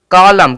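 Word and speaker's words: column: पतझर ठीक है सीओ एल यू एम एन कॉलम कॉलम कॉलम अब देखेंगे यहां पे एम के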